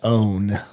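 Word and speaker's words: onn.: brand we'll offer access right now it is pronounced own own okay owned okay i keep you back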